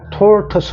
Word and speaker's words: tortoise: 이게 발음이 액센트가 여기 있기 때문에 그냥 어로 죽어서 tortoise 합니다.